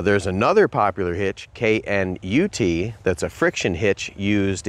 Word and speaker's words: Knute: lock into your Carabiner that's a KN nut I think that's pronounced nut and I'm talking about